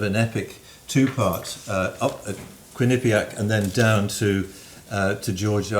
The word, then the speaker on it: Quinnipiac: Would you say it properly for everybody? Quinnipiac. And not Quinnipiac.